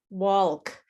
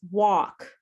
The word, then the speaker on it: walk: I have many students who say walk and that L is silent. It's walk just like what you cook in for if you're cooking uh Chinese food.